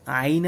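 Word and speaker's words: عين: আইনের উচ্চারণটা কিন্তু একদম শক্ত করে আইন।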